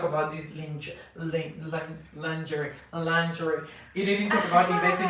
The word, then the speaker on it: lingerie: we know she is the british pronounce it lingerie lingerie luxury lingerie lingerie american american people i i'm american you know i like i like american pronunciation than british i don't really encourage